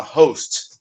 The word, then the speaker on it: host: é os nem poste o h não é mudo a gente fala host a gente falar hardware